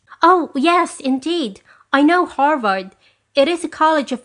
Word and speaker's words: Harvard: You know, Arvad, I think you call it, he asked, pronouncing it Arvard. Since the H is always silent in Spanish. Oh yes indeed, I know Harvard.